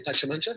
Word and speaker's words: Pachamanca: How do you say Pachamanca?